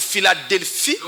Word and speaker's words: Philadelphie: Mais cette lettre P va être prononcée F lorsque on a en face de nous un mot d'origine grecque. Ah, c'est le cas par exemple pour Philadelphie.